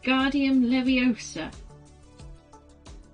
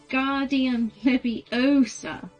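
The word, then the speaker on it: Wingardium Leviosa: much more luck when guardium leviosa he shouted waving his arms arms like a windmill you're saying it wrong harry heard hermione snap it's when guardian leviosa make the gar nice and long you do it then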